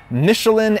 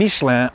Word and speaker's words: Michelin: tire michele is michelin though i will be switching between the french and american pronunciations for the purposes of rhetoric and humor michelin and nishlan are the same company this is funny